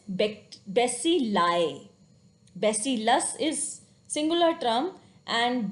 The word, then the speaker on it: bacilli: Similarly, I sounds like I when added to the end of the word to form a plural. When we are talking about the plural thing, then I sounds like I. Glomeruli, villi, alveoli, and bacilli. When rather than we are talking about one bacteria, if we are talking about many bacteria, then it is not bacterias, it is bacilli.